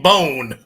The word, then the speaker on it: Bohn: Don't pronounce the H in bone. The H is silent.